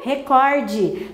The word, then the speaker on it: recorde: na televisão a palavra ele bateu recorde tá então correto é dessa maneira por que que eu não assento exatamente porque a sílaba tônica está aqui terminada em eu não posso situar-se fosse recorde com os a maioria e das pessoas falam deveria ter assento não tem tá então não tendo assento